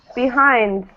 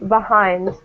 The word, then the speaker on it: behind: Behind. And At the end. Yeah. And notice again, since hind has the stress, we usually pronounce this E neutral. We'll say behind.